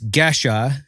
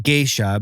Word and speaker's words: Gesha: It's not Geisha, but it's pronounced differently because it's actually Amharic from Ethiopia.